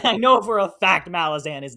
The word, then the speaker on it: Malazan: Is it Malazan or Malazan? So there's one thing I know for certain. Malazan is the wrong pronunciation. It's just too late. I've already jumped down the rabbit hole and I've Right. decided Malazan's how I'm saying it.